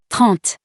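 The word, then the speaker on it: trente: the first one and in french we pronounce it taunt the next one is 31.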